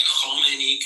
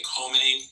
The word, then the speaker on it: Khomeini: Can you just say, instead of saying Khomeini, can you say Khomeini? And instead of Iranian, can you just say it like a normal American?